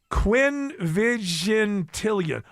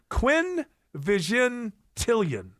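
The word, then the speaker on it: quinvigintillion: uh one followed by 78 zeros is a quinvigentilian. Quinnvigent Quinn Vigentilian.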